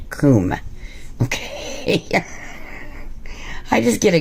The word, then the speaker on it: Kum: i've heard it pronounced so many ways it's kum it's pronounced coomb okay i just get a giggle out of